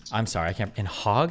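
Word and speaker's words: Hague: The HEG. The HEG. Can you tell me how an American would pronounce this? He don't know what. I don't have that sound in my American tongue. H A G U A. Okay. Heg. Heg.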